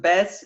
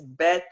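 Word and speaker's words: ב: But I can pronounce them Bes. It's Bet in Okay.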